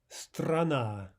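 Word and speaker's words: страна: Strana, strana. Two syllables, two ahs. The second is stressed, and the first is directly before the stressed syllable. Therefore, we have ah in both cases.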